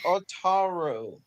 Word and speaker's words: Otaru: C55-50, preserved at the Otra Museum in Otra. I can't pronounce that word. Is it Hoked or is it Hokida? I don't know. It's Otaru.